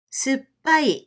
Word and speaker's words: すっぱい: And you need 4 beats to pronounce this word. すっぱい、すっぱい、すっぱい. すっぱい means sour in Japanese.